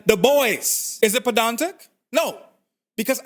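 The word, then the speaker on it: Du Bois: the same self-report as pronouncing this surname as Dubois rather than the boys is it pedantic no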